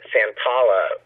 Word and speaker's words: Santolla: She said my name is Santolla earlier, and I had to tell her that Santolla rhymes with Roll Up a Dollar or Valhalla.